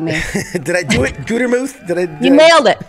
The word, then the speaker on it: Gutermuth: Did I do it, Gutermuth? You nailed it. It's Smith, actually. You screwed up. It's pronounced Jane.